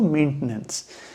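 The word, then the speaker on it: maintenance: मेंटेनेंस या थोड़ा अगर और न्यूट्रल एक्सेंट में जाएंगे तो मेंटेनेंस नॉट मेंटेनेंस। आप मेंटेनेंस बोलेंगे तो आप एक एक्स्ट्रा सिलेबल जोड़ दे रहे हैं which is नॉट the right pronunciation and neither the right spelling.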